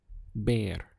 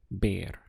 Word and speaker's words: ver: see in Spanish is bear spelled v e bear now it sounds like the English word bear and that's because this V is always pronounced like the letter B in English so bear is the verb to